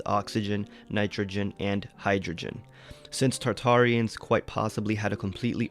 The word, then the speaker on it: Tartaria: little access to farmland tartaria originally pronounced tataria without the first R is the name of